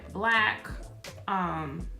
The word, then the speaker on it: BLK: I've tried Black. Well, it's spelled BLK.